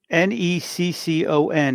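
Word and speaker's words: Netcong: Neccon is how you say it. Neccon. Yeah. Like, why can't anybody in New Jersey talk? It's spelled Neccon. But if you're from there, it's Neccon. Yeah.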